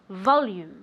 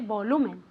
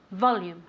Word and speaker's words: volume: volume okay volume okay remember that the accent goes on the o volume okay not like in spanish when you say volume no this is volume okay so repeat once